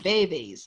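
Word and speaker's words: vèvè: Voodoo is an actual religion with loas or spirits, deities, and veves. The word veve is pronounced in two syllables with a short e in each.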